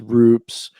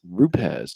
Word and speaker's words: Rupes: Everybody says rupts or rupes or this or that. He's like, "It's rupes. There's no eye in it. It's ru and pez. Rupz.